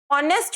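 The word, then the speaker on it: honest: तो आप देखो अगर आप ऑनेस्ट बोलोगे तो आप कैसे बोलते हो? ऑनेस्ट तो नहीं बोलते ना? ऑनेस्ट बोलते हो। एच क्या होता है? साइलेंट होता है।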